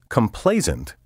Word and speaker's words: complacent: Complacent, with an S sound in the final syllable, has a negative connotation.